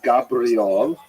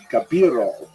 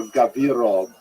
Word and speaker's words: Gabirol: pointed out to me it's not even Gabriel it's gabirol or gabirol I put the i in the wrong place so I changed everywhere